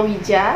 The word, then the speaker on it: Ouija: ini sendiri yaitu namanya Ouija itu dibacanya Wija ternyata diberikan oleh Charles